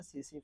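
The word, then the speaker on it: tsetse: দেখি সেটা তারপর হচ্ছে সিসি ফ্লাই এখানে টি এর উচ্চারণটা হয় না সিসি ফ্লাই বা সিসি মাছি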